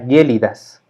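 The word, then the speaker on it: gelidus: ser por ejemplo glacial se escribe gélidas en latín pero la pronunciación sería gélidas o rodilla en latín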